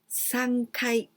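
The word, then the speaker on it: 三回: floor it was sangai this is the only difference sangai here the third floor sangai but three times sangkai sangai but all the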